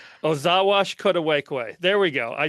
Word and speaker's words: Ozhaawashkodwekwe: As I told Rob before, I'm still a beginner in Ojibwe language, but how I've learned it is Ozhaawashkodwekwe. Ozhaawashkodwekwe.